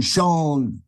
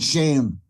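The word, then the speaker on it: Seán: Sean, S-E, offered in the stress is on Sean, not shame.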